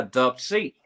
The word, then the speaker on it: Dubb C: Dupsi, bueno, tiene dos significados, o sea, Dupsi es las iniciales en inglés de Dove, de la W, y la C, de White Chocolate, ¿verdad? Okay. Entonces, pues, se pronuncia Dove C.